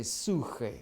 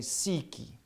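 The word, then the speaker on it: ψυχή: of a soul, or as you could pronounce it in Greek, psyche. Some will say suche, some will say psyche. Depends on how you want to pronounce it.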